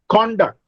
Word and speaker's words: conduct: Look at conduct. If I say conduct, that is, if I put a stress on con, then it is a noun.